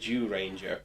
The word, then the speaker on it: Zyuranger: 16th incarnation of the show, 1992's Kyoryu Sentai Zyuranger. Yes, it is pronounced like that.